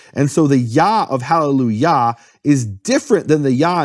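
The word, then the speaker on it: Hallelujah: And think of the vowel in Yah, the Yah of HalleluYAH. That actually is the kamatz that is the pronunciation of that vowel, kamatz. And that vowel is different than the vowel in Yahweh.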